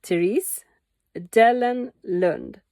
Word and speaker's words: Therese Dellenlund: I know it's very difficult for you in different countries to pronounce my name, but it's okay if you if you can't. I understand. But it's Therese Dellenlund. But you can call it Dellenland or. It doesn't matter.